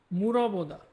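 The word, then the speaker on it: 물어보다: ঠিক আছে, নেক্সটে দেখি মুরবোদা। মুরবোদা, মুরবোদা, মুরবোদা, মুরবোদা। ঠিক আছে, এই বিয়োগটা কিন্তু ব আর ভয়ের মাঝখানে একটা উচ্চারণ হয়। একদম ব উচ্চারণ করা যাবে না, আবার ভ উচ্চারণ করা যাবে না।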